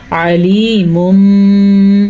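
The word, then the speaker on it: عَلِيمٌ: جیسے عام طور پہ ہم علیمٌ پڑھتے ہیں تو ہم اس کو پڑھیں گے علیمٌ، میم کی آواز آئے گی.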